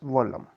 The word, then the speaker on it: Vallam: Now what is Vallam or so called Vollam? The Keralese person pronounced there as Vollam.